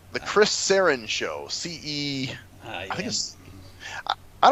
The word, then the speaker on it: Cerrone: No, it's not Serrano. It's Cerrone.